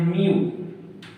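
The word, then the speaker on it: μ: इसका नाम मैं बता देता हूँ, इसका नाम है म्यू। क्या नाम है? म्यू। MA, हिंदी में लिख देते हैं म्यू, ये नाम है। इसको बनाते कैसे हैं? यू के जैसा, म्यू।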